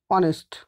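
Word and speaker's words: honest: अब यहाँ ध्यान से देखें बच्चों, इस वर्ड को आप देखें, ऑनेस्ट, इसको पढ़ते हैं ऑनेस्ट, हालांकि आप इसको देखो, इसका जो फर्स्ट लेटर है वो एच से स्टार्ट है।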